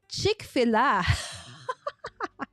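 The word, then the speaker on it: Chick-fil-A: syllable but Americans normally it's on the first syllable right so anyway just you know a funny thing right I I said chick fila it's Chick Fil-A it's very delicious guys it's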